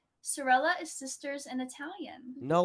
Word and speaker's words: Sorelle: and said hey it's it sounds like sella Bella so we're going yeah some people don't know how to pronounce it so I'm just like